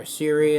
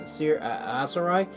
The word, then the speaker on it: Aserai: The Aserai, or Assyri, as I've been known to pronounce them, but I've heard on the internet it's Aserai, will have their own